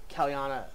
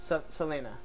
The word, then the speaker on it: Selena: this table it's like kalyana what's your name again do I keep pronouncing it wrong Selena Selena yes like that's a pretty big pronunciation yeah Selena all of